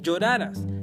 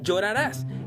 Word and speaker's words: llorarás: Si a esta palabra no le pusiéramos tilde, diría lloraras. La manera correcta es llorarás, ya que tiene S en la última sílaba.